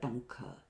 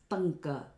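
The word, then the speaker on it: ṭaṅka: This is most commonly mispronounced as Tanka. Tanka means grief that's produced due to separation from one's beloved object. It is Tanka, ta, where the tongue curls up.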